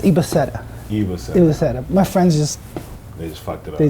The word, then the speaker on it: Ibaseta: The name's actually pronounced Ibaseta.